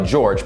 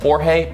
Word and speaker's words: Jorge: George's real name is Andrew, but goes by George, but spells it Jorge, which is actually pronounced Jorge, but he pronounces it George.